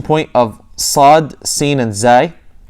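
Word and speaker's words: زاي: This is the articulation point of sad, sin, and zay. A lot of people say zain, but it's actually pronounced zay in Fusha.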